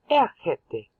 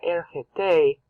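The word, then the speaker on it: ἔρχεται: And they said they got ergete, but no, ergete. I just don't agree with the pronunciation or their diacritics. You don't stress the last syllable because the last syllable keeps on changing, so then you never know what the root verb was.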